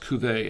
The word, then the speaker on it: Cuvée: Cuvée, it's pronounced Cuvée, actually.